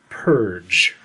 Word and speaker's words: PERG: The title of the book was PERG, and underneath it had a pronunciation key. So, it just, in parentheses, said pronounced purge.